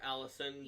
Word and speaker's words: Alasen: Yeah, but we all just called her Allison, pronounced like the normal Allison.